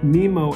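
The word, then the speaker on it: Mimo: of the quick tutorials when you run the Nemo app that is how you pronounce it it has various tutorials that actually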